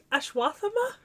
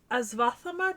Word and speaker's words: Ashwatthama: assman why do you call him assman um ashw thank you or aath depending on how it's anglicized because it's been